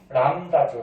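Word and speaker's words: λ: 파이가 아니죠, 이거. 람다죠, 람다. 람다라고 읽어주죠.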